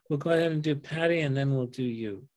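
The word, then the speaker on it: Pati: My second wife's name was Patty. Oh, yeah? Yeah. Spell it E-Y? No, she spelled it P-A-T-I, actually. Oh, okay. Different spelling, but same pronunciation.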